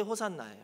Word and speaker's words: 호산나: 이름도 호산나 성가대 이잖아요이 호산나 원래 히브리어인 헬라어 방식으로 발음한게 호산나 히브리어는 호시안나 있데요 헬라어 방식으로 호나라 발음한 건데 그 뜻은 뭐냐면 이제